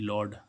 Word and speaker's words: laud: ऐसे ही हम देखें LAUD, लॉर्ड। लॉर्ड, लॉर्ड means क्या होगा, ऊंचा स्वर। यहाँ पे ए यू का उच्चारण क्या हो रहा है, ओ।